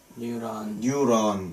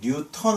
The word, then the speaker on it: 뉴런: 뉴런. 뉴턴 아닙니다. 뉴턴은 옛날 과학자. 좀 더 정확한 발음은 뉴턴이죠. 그런데 여기서 뉴턴 아니고 뉴런입니다. 뉴런.